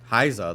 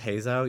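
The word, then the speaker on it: Hassel: other characters to me haiza though which I know is pronounced Hazel you're not gonna get me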